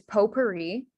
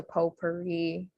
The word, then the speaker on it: potpourri: silent in french um the o sound um is spelled o u so potpourri uh that sound is spelled ou and then the e sound um at the end of a word usually is spelled with an i um and so the correct spelling here you get is p-o-t-p-o-u-r-r-i for um for potpourri then next